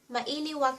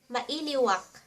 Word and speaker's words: Mailiwak: To say I miss you in Ilocano, Say, "Mailiwak kenka." Mailiwak Ma I (pronounced e) liw ak kenka ken ken ka Mailiwak